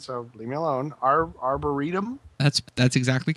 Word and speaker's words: arboretum: warps and my underground our I'm going to mispronounce it so leave me alone our Arboretum that's that's exactly correct that's yeah you're right